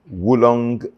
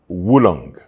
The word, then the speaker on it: oolong: It is pronounced Wulong as if there is a W at the beginning of that word, but there's no W there.